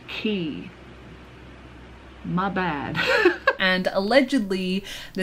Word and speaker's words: Quay: brain fart either way hue is pronounced key my bad and allegedly